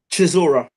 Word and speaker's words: Chisora: how do you say the other guy's name Chisora Chisora yeah he there was a big one